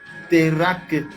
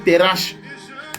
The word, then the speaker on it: Terach: Je parlais de notre père Abraham qui vient d'un père qu'on appelle Térak ou Terach selon la prononciation. Il y en a qui disent Térak ou bien Terach. C'est T-E-R-A-C-H.